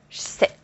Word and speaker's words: j'sais: Je sais will become sais.